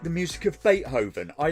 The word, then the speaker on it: Beethoven: going to freak out did you like forget to pronounce the T Beethoven Boven how in the actual you get bethoven where's the tea my brother all right